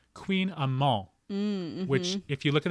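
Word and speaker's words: kouign-amann: spell AMA and T which if this were French how you pronounced that word is amol you wouldn't pronounce the ENT at the end you have to really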